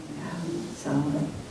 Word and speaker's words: Samhain: Well, at Samhain, I've seen it spelled Samhain, like those Gaelic words. It has a strange pronunciation. Have you heard it pronounced Samhain before? Samhain.